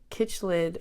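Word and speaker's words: Cichlid: The Kitchlid Aquarium. That's how you pronounce that.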